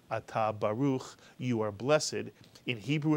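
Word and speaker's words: ברוך: Ba is the first syllable. Ruch is the second syllable. Baruch, mitsuyan.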